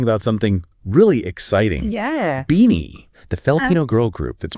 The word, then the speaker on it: BINI: b i n i it's pronounced just like beanie your favorite winter hat beanie exactly beanie okay